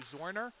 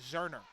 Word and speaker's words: Zorner: who said this uh we were saying number 19 for Ru zorner it's actually zerner Zer zerner z r